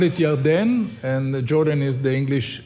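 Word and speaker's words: ירדן: from Chicago B we we we call it jardan and Jordan is the English where pronunciation but um but it's it's every time when we cross the Jordan or whatever it's it's it's meaningful because after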